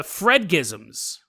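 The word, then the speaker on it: fredagsmys: so a new phenomenon catches on called uh Fred gizm Fred gizm which means if you pronounce it correctly means cozy Friday from this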